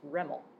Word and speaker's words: REML: alternative is something called restricted maximum likelihood or residual maximum likelihood and that is pronounced reml so we have EML and reml in this context what